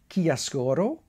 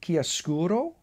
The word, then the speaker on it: Chiaroscuro: Now, there's a lot of different ways, and everybody criticizes my pronunciation, but I believe the Italians pronounce it Chiaroscuro, or Chiaroscuro, and the English tend to call it Chiaroscuro.